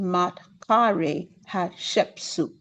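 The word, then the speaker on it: Maatkare Hatshepsut: It's Queen Matkare Hatshepsut. Queen Matkare Hatshepsut.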